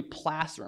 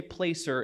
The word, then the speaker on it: placer: down in valleys along stream beds are usually placer mines don't say placer it's pronounced placer it's from the spanish word for